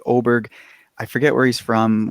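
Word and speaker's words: Åberg: in my past podcasts I call him l aberer so I it's l oberg I forget where he's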